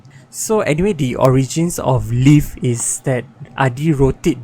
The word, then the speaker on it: Live: like this duality and the play of word uh between l i v e and l e a v e so anyway the origins of leaf is that adi wrote